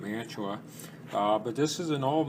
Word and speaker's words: Mantua: This is, you can see the name right there, this is an old Mantua, or Mantua, depending on how you pronounce it. I pronounce it Mantua.